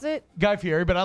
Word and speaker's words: Guy Fieri: Is that how you pronounce it? Guy Fieri, but I like Guy Fieri.